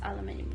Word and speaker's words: aluminium: I think that's aluminium because it's like dark but it's glistening at the same time.